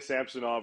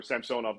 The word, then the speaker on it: Ilya Samsonov: model that shows that Ilya samsonov or Samsung off depending how you want to pronounce it is considered a